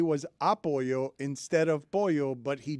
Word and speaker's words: apoyo: Apoyo. Come on, dude. He didn't ask for any of this. Put the emphasis on the wrong syllable.